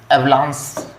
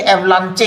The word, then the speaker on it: avalanche: अब इसका pronunciation एवलांस है। भाई ये एवलांचे क्यों नहीं है?